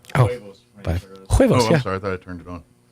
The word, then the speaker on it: huevos: The H is silent. Yeah. You went more W.